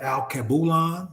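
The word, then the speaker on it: Alkebulan: retreat um you can email us at alcaboulon that's spelled a-l-k-e-b-u-l-a-n 2024. LK boulon 2024.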